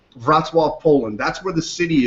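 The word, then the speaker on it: Wrocław: It's this bas this is based in it looks like Roclaw, but it's actually pronounced Vatwave, Poland.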